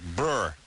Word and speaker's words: Breuer: is our guest tonight now I say Brewer but is it like Brewer Brewer Brewer Brewer yeah cuz it's not normally it's not spelled how a brewer is spelled but it's like Brewer it's Brewer Jim Brewer so you like to